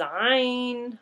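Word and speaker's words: عين: I is Ain. Ain. So obviously there's a ya in the middle.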